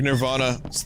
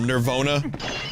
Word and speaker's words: Nirvana: laugh right it's like Nirvana was mispronouncing their name the the band because um a lot of presenters would call them nervon nervar they just like they couldn't pronounce the word Nirvana so they would say